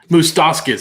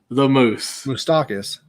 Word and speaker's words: Moustakas: Moustakas. That's it. Yes, I'm sorry. You still said it wrong. The moose. Moustakas. There we go.